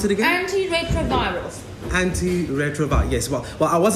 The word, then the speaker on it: antiretrovirals: I was a bit skeptical about the anti-retros. What? The anti-retros. The Anti-retros? Yeah. Woohoo! I'm against the 70s! It's antiretroviral. Sorry, how do you pronounce it again? Antiretrovirals.